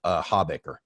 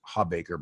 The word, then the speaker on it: Hawbaker: One's from Joel Habaker. Now, I don't know if I'm pronouncing Joel's last name correctly. It's spelled Hawbaker. I always thought it was Habaker, but I've never actually asked him.